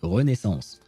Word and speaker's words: Renaissance: This is a French word, so I'll pronounce it the French way. Renaissance.